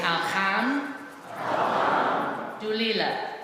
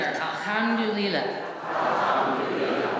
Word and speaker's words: Alhamdulillah: So, say Alhamdulillah. All together. Alhamdulillah.